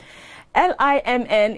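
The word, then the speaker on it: limn: you you never know l-i-m-n is pronounced lim and it means to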